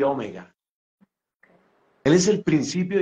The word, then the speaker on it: Omega: del alfabeto y es Omega otros pronuncian Omega más correcto creo que es Omega él es Alfa y Omega él es el principio